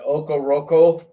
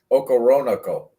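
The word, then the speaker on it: Okoronkwo: I love the Okoroko. Was that it? How you say his name? Okoronoko is his name.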